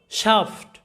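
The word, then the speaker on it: shaft: ছয়াকার সা এবং ফয় ট, শাফট, এরকম। অর্থাৎ মনে রাখবে এই এর পরে এফটি থাকলে এই এর উচ্চারণটা হবে আ, এরকমভাবে ক্রাফট, আফটার, শাফট।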